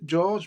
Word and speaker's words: Gyorgy: Son nom de famille se prononce George, même s'il s'écrit différemment. Si on remonte à quelques générations, elle est d'origine hongroise.